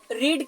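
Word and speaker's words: read: यहां पर देखिएगा क्योंकि रीड का तीनों फॉर्म यानी स्पेलिंग से होता है लेकिन अलग-अलग इसका फॉर्म में उसे होता है प्रनंसीएशन जैसे हम लोग पहले को रीड बोलते हैं दूसरे को हम लोग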